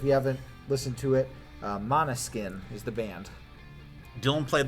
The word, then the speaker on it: Måneskin: This year, a rock band won, a band called Måneskin, I believe it's pronounced. It's spelled M-A-N-E, like a horse's mane, and then skin.